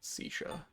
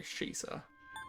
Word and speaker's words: Shisa: But I need everything else, so I don't really feel like fusing out Sisha. Or sorry, Shisa. I mispronounced it.